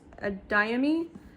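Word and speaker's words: Adeyemi: Blood and Bone, and I believe this is pronounced Adayami.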